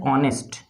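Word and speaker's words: honest: हूँ एक वर्ड, और वो वर्ड क्या है, ऑनेस्ट। इसको हम लोग हॉनेस्ट नहीं पढ़ते हैं, ठीक है, इसको पढ़ते कैसे, ऑनेस्ट।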